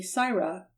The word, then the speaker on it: Sarah: from that fact that the average Cockney English servant pronounced the letter A like the letter I. They say tyke for take, and sigh for say, and so they called her Lady Syra for Lady Sarah, and Lady Syra became Lady Siren.